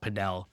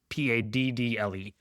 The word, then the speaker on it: padel: It depends on like Latin America versus US. Either one is fine. It's spelled p a d e l, not p a d d l e.